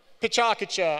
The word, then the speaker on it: PechaKucha: So, PechaKucha. I think we heard how to pronounce it earlier.